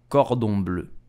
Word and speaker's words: cordon bleu: So how do you pronounce it correctly in French? You will say cordon bleu, cordon bleu, cordon bleu.